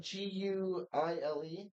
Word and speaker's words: Guile: Guile.